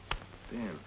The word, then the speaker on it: Bierman: How do you spell it? B-E-E-R-M-A-N? No. B-I-E-R-M-A-N. Oh, yeah, Dave Behrman. Yeah, sure. Behrman.